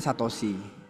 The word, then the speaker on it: Satoshi: Tahu-tahu ada aja ditambah 50 ke dompetnya Satosi ya. itu cara bacanya.